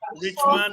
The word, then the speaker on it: Richman: Richard Ngo.